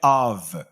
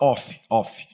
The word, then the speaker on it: of: E se atentem à pronúncia correta, que é of. Of. Tem o som de V no final, tá? Eu não vou falar off, como muitas pessoas acabam pronunciando errado.